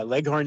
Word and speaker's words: Leghorn: yeah it's yeah okay leghorn yeah like like horn yeah leghorn is a place yeah